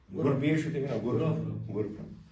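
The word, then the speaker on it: غُرَف: غرف، را پر زبر آئے گی، غرف، غرفتن غرفتن غرف، تلفظ کو ٹھیک کیجیے، غرفتن غرف.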